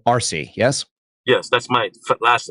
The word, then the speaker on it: Arce: to hear it's a rce e pronounced RC but spelled Alpha Romeo Charlie Echo RC yes yes that's my